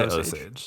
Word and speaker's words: Osage: You can say Osage. So It's 2 syllables.